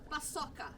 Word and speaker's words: paçoca: Paçoca.